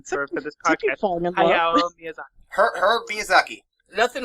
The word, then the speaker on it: Hayao: Hayao Miyazaki. Yes, there you go. Okay. Thank you. Yep, that's it. It's official. Yeah, that's the official pronunciation of his name for this podcast. Hayao Miyazaki.